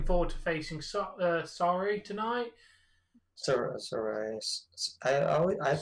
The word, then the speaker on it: Sarray: Sarray. I pronounce it Sarray, but Sarray.